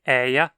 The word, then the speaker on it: er: O pronome eia reduz bastante, passando de eia para a.